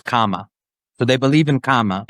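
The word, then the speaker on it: กรรม: So they believe in karma, but they pronounce it as kama.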